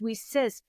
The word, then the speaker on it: WiCyS: acronym wi CYS is pronounced we sis like we sisters I was like this